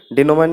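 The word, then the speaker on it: denouement: डिनोमेंट इसको प्रोनाउंसिएशन होती है, और मीनिंग होता है अंतिम परिणाम, क्लाइमैक्स।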